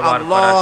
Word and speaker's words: আল্লাহ: আল্লাহ পাকের উচ্চারণটা হচ্ছে আল্লাহ পাকের নামের উচ্চারণ হচ্ছে আল্লাহ মুখটা একটু গোল হয়ে যাবে বলেন আল্লাহ আল্লাহ